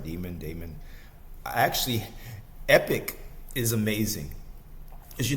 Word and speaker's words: Daemon: I pronounced it right, Daemon.